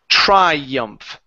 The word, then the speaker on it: triumph: Triumph. Triumph. Triumph. Okay, give me an F sound at the very end. That ph. Okay. Will be a F sound.